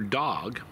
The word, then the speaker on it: dog: the same word for dog as we have in the English language the in the the language mam a word for dog is Dog and it's pronounced almost identically to how we say it uh this is purely